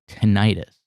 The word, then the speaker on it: tinnitus: that it was not with an eye it's tinnitus okay you know who had a very bad